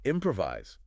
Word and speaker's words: improvise: Like take improvise. The stress is on the first syllable.